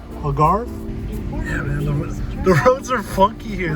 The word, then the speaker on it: Algarve: coast to album Farrah that's how you pronounce it to Algarve Algarve the roads are funky